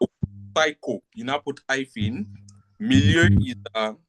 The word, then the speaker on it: milieu: You can see it in the screen, but let me spell it. Psycho is S-P-S-Y-C-H-O. Psycho. You now put hyphen. Milieu is I spell French, I don't know.